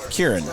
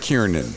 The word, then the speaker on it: Kieran: No, I can tell you, I will say Kieran Culkin. Really? Yeah. Well, but that was your fault. It was, no, I was a contributing factor, but it was not my fault. Yeah, well, Kieran, not Kiernan.